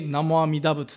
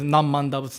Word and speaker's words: Namo Amida Butsu: We come to the Jodo Shinshu temple, and then we recite, say, Namo Amida Butsu, Namo Amida Butsu. Or more casual pronunciation is Nammanda Butsu, Nammanda Butsu. Same thing, kind of different pronunciation.